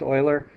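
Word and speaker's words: Euler: the and you notice sometimes they're called Oiler diagrams I wrote that on top e l r it's pronounced Oiler they're both men's names you're going to hear more about Oiler and then um a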